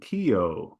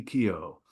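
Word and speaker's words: Keough: we were gone about Riley Kio which is how you pronounce the last name there it's uh shortening from a longer Gaelic name anglicized of course as the English were W to do so simply Riley Kio K okay and I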